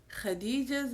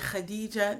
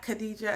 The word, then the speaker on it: Khadijah: This time I chose Khadijah's Got Her Groove by F.A. Ibrahim. Notice I said Khadijah, not Khadijah. I said Khadijah, the proper Arabic pronunciation.